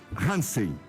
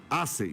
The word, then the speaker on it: Hassen: presidente da FAMURS, Hansen. É Hansen ou Hansen? Assen. Bom, então não é nenhuma das duas. É Assen.